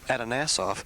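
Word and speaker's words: Atanasoff: And Kai, we're standing in front of the Adanasoff Berry computer, or the ABC computer. Now, can you tell us what is that, and did I say it right? Yes, you did.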